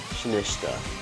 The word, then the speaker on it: Sinistcha: Sinistcha.